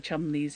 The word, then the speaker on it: Cholmondeley: I was very much aware growing up of the dance companies, the Chumleys and the Fanshaws, which are Cholmondeley and Featherstone Hall, and I just thought, yep, I'm going to stick that in and just watch people go, what?